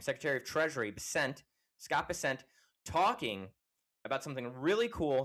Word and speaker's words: Bessent: of Scott, the Secretary Bessent, I think is how you say his last name, Secretary of Treasury Bessent, Scott Bessent, talking about something really cool that I'm excited about, and I think you'll understand why.